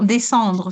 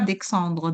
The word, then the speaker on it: descendre: Non descendre c'est pas d'exandre.